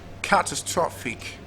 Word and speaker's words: catastrophic: Next word we had secondary stress on the first syllable also. And then primary stress on the third syllable. catastrophic, and the last word